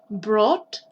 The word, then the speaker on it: brought: broker para que no tengáis también cómo se pronuncia break broke broking brain brought to build build bild by bot bot es